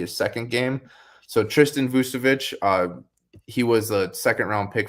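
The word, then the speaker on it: Vukčević: We also had Tristan Vukcevic. I think it's pronounced the same way as Nikola, but I think I don't know if it was his debut, but maybe his second game. So Tristan Vucevic, he was a second-round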